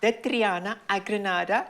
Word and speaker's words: De Triana a Granada: Can you just give us the correct pronunciation? Yeah, because a poquito español, no? De Triana a Granada.